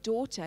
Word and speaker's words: daughter: throat so the word daughter used to be daughter but because it's hard to say that and because we're lazy we don't pronounce the gh anymore it's silent at the end of